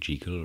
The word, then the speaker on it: Jekyll: Enough of Gertrude Jekyll rhymes with treacle.